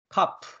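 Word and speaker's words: כף: 아는 의미를 가지고 있는 카프 카라고 읽습니다 카프 키역 발음입니다 그다음 단어는 소모리 막대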